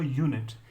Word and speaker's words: unit: a unique read so when I say a unit it's actually pronounced as you knit right so the first